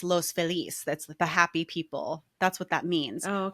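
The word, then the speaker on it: Los Feliz: La there is a a neighborhood called loses which is in Spanish it's Los FIS that's the happy people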